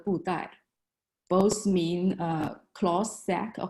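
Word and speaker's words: Budai: Hao Dai is a Japanese pronunciation. In Chinese, it is called Bu Dai.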